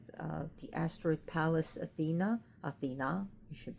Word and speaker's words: Athena: Athena you should pronounce it like that.